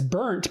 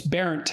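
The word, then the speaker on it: Berndt: to anyone, but because it was parodied as burnt, because that's B-E-R-N-T, that's how it's spelled. And so it was an object of mockery, so I didn't look into it much, but it's Berent.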